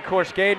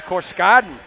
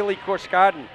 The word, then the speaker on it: Corken: sides corken I'm pronouncing corcen wrong it's corken key corken thank you thank you